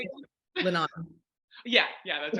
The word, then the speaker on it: Linan: Linan.